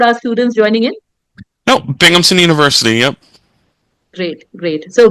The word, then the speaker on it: Binghamton: witon right is there a better way to pronounce for our students joining in no bingamon University yep great great so welcome everybody and